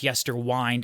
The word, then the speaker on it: Yesterwynde: commenters who did say it's pronounced yester wind as in Winding a clock not wind as in windmill so it made me